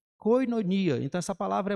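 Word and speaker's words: κοινωνία: é até conhecida nossa a pronúncia que é koinonia koinonia Então essa palavra é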